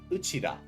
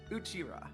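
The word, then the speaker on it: うちら: Let's start with the first word, Uchida. Uchira, yes.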